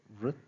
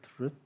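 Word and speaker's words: vṛt: Uh, the pronunciation is given vrit, vrit, and the root is vrit, the meaning to turn, to rotate.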